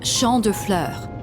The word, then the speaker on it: Champ de Fleurs: Champs de floors? How do you say that? Alors, vois-tu, Junpei, cet établissement s'appelle Champ de Fleurs. It's Champ de Fleurs. It means field of flowers.